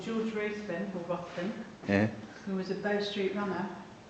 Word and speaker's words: Ruthven: So I've got to pronounce it the proper way. Ruthven. I say Ruthven down in England land.